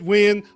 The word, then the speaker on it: Wynn: It was David Wynn. It was so many. I know so many wins. It's Wynn. Trust me. It took me a long time to accept that that's how you pronounce it.